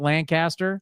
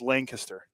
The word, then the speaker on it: Lancaster: This is not Pennsylvania. It's not Lancaster. It's Lancaster, but it's spelled the same way.